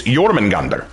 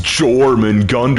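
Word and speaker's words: Jörmungandr: anal people going like no it's not yman Gund it's jorman Gund you've got to do the hard J consonant and I'm like I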